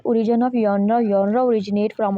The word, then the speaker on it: genres: next हम देखेंगे primary नराज ये जो वर्ड है इसको नरा पढ़ना है हमने मैं पहले बताना भूल गई इसको जनरा या जनरस नहीं पढ़ना नरा इसे प्रोनाउंस करते हैं द प्राइमरी नराज